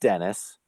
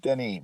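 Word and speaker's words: Denis: his name was pronounced dennis i don't believe it is i believe it's pronounced denny but if his name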